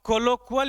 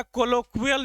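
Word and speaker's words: colloquial: अब कोलोक्वल या कोलोक्वियल जो प्रोनाउंसिएशन चाहो दोनों में सही होगा।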